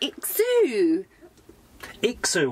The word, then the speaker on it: IXOO: be honest is such a good product the exu xu well that's correct you said it right yeah